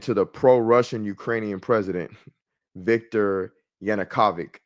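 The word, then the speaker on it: Yanukovych: the pro-Russian Ukrainian president Victor Yanukavic. I always mispronounced this guy's name, but yeah, that's it. Victor Yanukovic.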